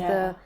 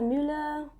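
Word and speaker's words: Müller: Because Muller. the umlaut on the U. Yeah. So I'm also trying to, how does a person say this? But yeah, Melissa Muller.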